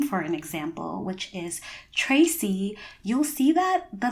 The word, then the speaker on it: Tracy: In the case of my name, you would get a ch sound as opposed to a t sound.